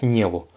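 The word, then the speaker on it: него: prononciation sur le niveau ça s'écrit niego mais ça se prononce niveau parce que on a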